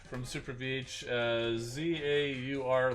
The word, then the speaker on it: zaur: so we've got uh update here on the pronunciation from super vh uh z-a-u-r like that so that's how you pronounce uh